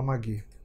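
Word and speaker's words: Magy: Isso me foi contado pela Magui. Magui se escreve M-A-G-Y.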